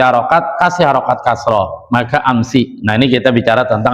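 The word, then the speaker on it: أمس: Karena kalau kita pada prinsip awal harusnya sin sukun berarti ames ames ames dan itu jadi pusing lagi dengar pusing bacanya juga susah sehingga orang Arab mengkasrkan sinnya maka dibaca amsi apa alasannya mimakin hurri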